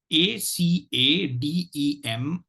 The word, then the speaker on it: Academic: The word for today is Academic. Let me repeat, Academic. And this word divides itself into 4 syllables. Syllable 1 is ac, syllable 2 is a, syllable 3 is dem, and syllable 4 is ic.